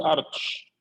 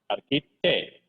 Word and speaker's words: architect: architect هتقول له استاذ ليش ما نقول ارتش؟ لا الاتش هنا سايلنت يعني ما يتنطقش. ارك على طول. اركي اركي تيك اركيتكت اركيتكت يعني مهندس معماري.